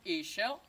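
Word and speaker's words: Ixchel: amigos is called Michelle can you pronounce each shell that is my language each in my language means woman shell means white well not white as the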